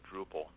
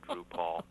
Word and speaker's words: Drupal: for that is is Drupal yep that's uh Drupal as opposed to Drew Paul I think Drew Paul